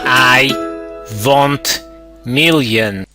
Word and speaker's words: IWONTMILLION: million I want million it is I want million with an O pronounce it in a European style I want million what's up everybody welcome